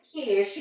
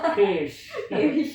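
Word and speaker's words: quiche: Tulisannya kuice, tapi kalau bacanya kish gitu kan. Iya, soalnya aku dimarahin Dina. Soalnya nggak pernah tepat. Iya. Bukan gitu. Aduh. Berhubung mau nge-vlog jadi latihan dulu. Kish gitu.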